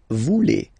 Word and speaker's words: voulez: Same thing here, classic ending EZ for vous, but then you pronounce it E. Vous voulez.